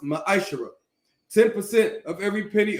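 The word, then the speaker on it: מעשר: it means 10th in Hebrew and it's pronounced maishara ten percent of every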